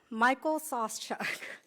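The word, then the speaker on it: Michael Sauschuck: I think by now you all know how to pronounce his name and you know how to spell it. Is that correct? Okay. Oh, Saucechuck, Michael Saucechuck.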